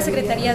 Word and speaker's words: Secretaría: Y a la Secretaría de Cultura. Acento en la Secretaría.